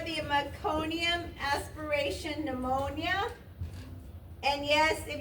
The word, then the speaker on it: meconium: all the way to the M's, and I looked up, what's that, how do you pronounce The that? meconium?